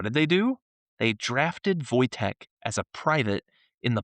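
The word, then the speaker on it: Wojtek: Now, if you look it up, it's Wo J Te, but it's pronounced Voytech.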